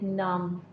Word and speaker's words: numb: You are going to tell about the about some words where B is not loudly pronounced, like numb, B is silent, numbness, B is silent here.